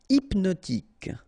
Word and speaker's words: hypnotique: Hypnotique. Remember, at the end, Q-E, K, tic. So H is not pronounced.